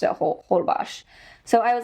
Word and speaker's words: Holbox: b o x so you might pronounce it hbox everyone pronounce hold bash so I was like oh I'll go there